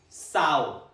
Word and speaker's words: sow: Second pronunciation, sow. Sow rhymes with cow.